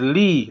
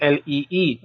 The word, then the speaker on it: Lee: Because the first name is Lee, like as in Lee.